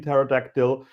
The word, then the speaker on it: pterodactyl: Like have that beer, get another pizza, have another cocktail, like don't don't pronounce the P in pterodactyl.